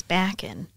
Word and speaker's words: Bakken: Bakken or Lorraine Bakken Bakken see because my mother's maiden name is back in and spelled the same way to say it but I know a lot of people say Bakken but uh Lorraine Bakken